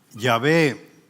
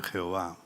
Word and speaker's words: Yahvé: Entonces, Yahvé, que esa es la pronunciación del nombre Jehová, porque ha habido un error de transliteración de la palabra Yahvé o Jehová. Le han puesto las vocales del Adonai y entonces resulta Jehová, pero equivocadamente no es una J, sino es una Y.